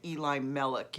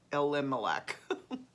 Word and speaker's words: Elimelech: to our relative elimelech i said eli melik yesterday first time and then i was calling just pronouncing it uh elimelech i thought i should